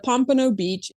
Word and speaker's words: Pompano Beach: So you guys are based in Pompano Beach. Is that how you pronounce it? Yeah, it's Pompano Beach.